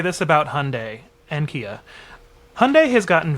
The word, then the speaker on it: Hyundai: code over the phone, the robot voice mispronounces Hyundai. It says your Hind verification code and I'm like, what?